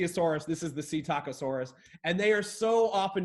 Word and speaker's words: Psittacosaurus: was really close actually it's C taco Soros you see tacos and you see a Soros this is the C taco Soros and they are so